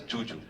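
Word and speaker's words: Zhu Zhu: So it's written as Zuzu, but she pronounces it as Juju.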